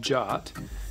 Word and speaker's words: JWT: a jwt or a jot token and let's learn a little bit more about jwts jwt or json web token often pronounced jot is a token that